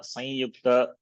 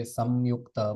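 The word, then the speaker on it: संयुक्त: Or you can make this anuswara nasalized form of yakara, sanyukta, that is also accepted, no problem. Nasalized yakara. Instead of anuswara, we make that into a nasalized yakara. That way also you can pronounce. Both are okay, acceptable.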